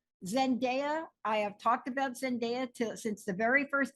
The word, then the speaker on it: Zendaya: I have talked about Zendaya too since the very first day I mispronounced her name and sent Zendaya she is not sin diet Zendaya uh Beyonce Keanu Reeves